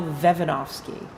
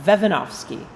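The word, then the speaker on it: Vejvanovský: program of moravian music we get to practice some of our czech pronunciation so one of the composers is named pavel vevanovsky so you might want to say that to yourself vevanovsky it's a great name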